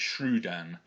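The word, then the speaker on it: Scrydan: So there you've got the S and the C, which is pronounced like a sh sound, followed by the R and then a Y, so it's the U sound, so it's Shrudan.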